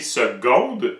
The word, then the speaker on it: seconde: c'est parce qu'on dit seconde mais ça s'écrit avec un C c'est quand même bizarre mais la phonétique est claire ça se prononce comme un G tu demanderas à un